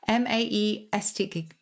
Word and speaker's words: Maesteg: He lives in Cardiff, but his partner comes from a small town in the valleys called, how to pronounce this, Mesteg? Maesteg.